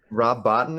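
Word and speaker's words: Rob Bottin: is just huge in this instance uh rob rob botton is that how you say it yeah dude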